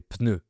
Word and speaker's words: pneu: Tout le monde dit un pneu, mais, en tout cas, on prononce le ‘P’ au début, un pneu.